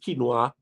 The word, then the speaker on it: quinoa: I tell people um if you have diabetes quinoa is your friend quinoa quinoa that thing that is spelled with a q q u i n o e pronounced quinoa is very good for you get it try